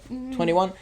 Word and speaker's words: 2NE1: um and like that is how you pronounce the name right 21.